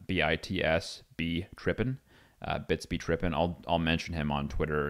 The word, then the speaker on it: BitsBeTrippin: His name's BitsBeTrippin on Twitter, as it's spelled or said, B-I-T-S-B Trippin, BitsBeTrippin.